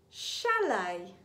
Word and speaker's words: chalet: And the final alternative pronunciation for the grapheme CH is sh. Let's read some words. Sh-f, chef, the name of a woman or a girl. Charlotte, machine, chalet.